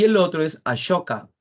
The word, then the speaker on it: Ashoka: y el otro es ashoka se escribe con s no pero se pronuncia como a shoka logra la máxima expansión